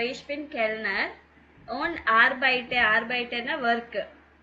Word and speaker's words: arbeite: ஓன் ஆர்பைட்டர்னா work. So இங்கே என்ன ending இருக்கோ அது கண்டிப்பாக நீங்கள் ப்ரொனவுன்ஸ் பண்ணணும். ஆர்பைட் அப்படின்னு சொல்லிடக்கூடாது. ஆர்பைட்டே. ஓன் ஆர்பைட்டே இன் 2 restaurants அப்படின்னா என்னது?